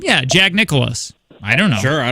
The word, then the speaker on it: Nicklaus: Yeah, Jack Nicklaus.